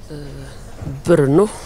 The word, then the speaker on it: Brno: Brno, tror jag det uttalas.